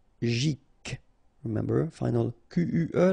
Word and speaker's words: psychologique: Psychologique, okay, remember it's an exception here because you've got this C-H-O. Normally we should pronounce it CHO, okay, but in that case we pronounce it CO. Psychologique, remember, final Q-U-E like that, K.